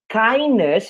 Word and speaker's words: kindness: Kindness, você não pronuncia o D aqui, então é só kindness, ok?